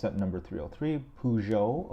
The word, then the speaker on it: Peugeot: it's that number 303 Pujo apparently that's how you pronounce it in French don't quote me on that that's just the way I've heard people say and it's a it's a 1907 Pujo that the models from